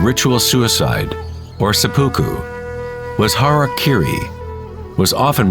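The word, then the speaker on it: hara-kiri: one form of ritual suicide or seppuku was har Kiri was often mispronounced as Harry kry it means to impale one's Hara thereby cutting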